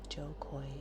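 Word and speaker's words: Jo Koy: Joe Coy is the pronunciation of Joe Coy.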